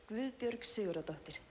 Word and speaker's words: Guðbjörg Sigurðardóttir: You pronounce it Gavud Bjorg Sigurd Doctor. Yes. Let me hear you say it. Guðbjörg Sigurðardóttir.